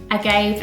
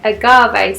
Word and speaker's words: agave: coffee, which I have already sweetened with my agave, oh my god, that's not how you say it, agave syrup, which is a natural sweetener.